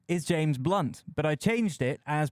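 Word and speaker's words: Blount: change his name while his name was always pronounced blunt he found that people seemed to get it wrong so he removed the O from his last name to avoid any confusion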